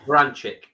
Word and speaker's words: Berinchik: So he's in with Denis Berinchik, I think you pronounce his last name. Oh, Baranchik. Baranchik.